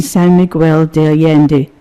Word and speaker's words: San Miguel de Allende: minister of the 250-member active UU congregation in San Miguel de Allende, Mexico.